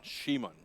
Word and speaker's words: Simon: Shimon.